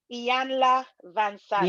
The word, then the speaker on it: Iyanla Vanzant: and I think I might even say this name wrong, Iyanla Vanzant.